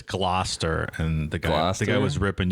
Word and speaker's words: Gloucester: should have not pronounced gloucester how is it pronounced it's gloat it's glow chester final answer i believe it's gloster and the guy was